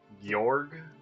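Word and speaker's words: Gyorg: Okay, so I think it's supposed to be like Yorg? Yog? Just looking at the Japanese, it's Gyo Gu with a long O sound in the middle. So Yog.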